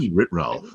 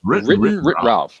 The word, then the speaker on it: WrittenwritRalf: take this opportunity to say thank you to WrittenwritRalf. Is that how you say it? Oh my gosh. WrittenwritRalf. Yes, WrittenwritRalf.